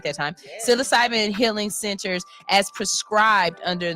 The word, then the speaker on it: psilocybin: What will take more time is establishing psilocybin, I said it right that time, psilocybin healing centers as prescribed under the initiative.